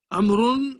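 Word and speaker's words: عمرو: different is made different amron is written with a wow which is not pronounced see now amaroon comes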